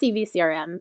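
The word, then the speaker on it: CiviCRM: to CVS CRM basics first off pronounced CV CRM it's that's a really weird word we understand guys we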